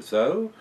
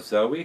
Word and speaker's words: Zoe: 2009 my 5-year-old daughter zo or Zoe however you want to pronounce Zoe it's pronounced both ways and I were wandering